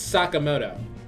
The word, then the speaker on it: Sakamoto: Stop saying his name wrong. It's Sakamoto.